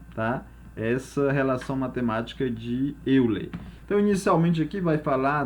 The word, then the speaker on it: Euler: Mas vamos estar fazendo a pronúncia mesmo no nosso português, então vamos chamar Euler, sabendo que o correto aí é Euler, tá?